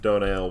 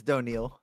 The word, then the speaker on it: Doniel: PC Donail. It's Doniel. Doniel, though a deer, a female deer. It's a contentious pronunciation.